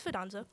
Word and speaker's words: Fidanzo: one more time good it's fadanzo danzo yeah wonderful italian name